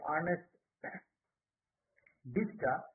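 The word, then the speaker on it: Ernest Dichter: focus group interview and this was done by ernest diska as it is pronounced and uh in the year 1914 and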